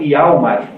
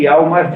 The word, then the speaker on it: Hjalmar: E ao mesmo tempo, esse Gregers tem um amigo de infância chamado Hjalmar, né, escrito com J, e nessas línguas norte-europeias, o J pronuncia-se como se fosse I.